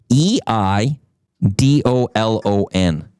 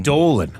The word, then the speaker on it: Eidolon: e i d o l o n. So, there's a silent e at the beginning. Eidolon.